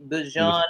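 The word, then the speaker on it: Bijan: Um, Bjon, we got to pronounce his name correctly. Bjon Robinson.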